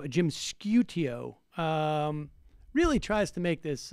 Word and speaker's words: Sciutto: Here is on CNN, Jim, how do you pronounce his name? Sciutto. Sciutto.